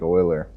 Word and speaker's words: Euler: shader again to use Euler angles or Euler angles how do you I mean I forget how to pronounce this yeah boiler boiler okay so I add it right like oiler alright so we'll do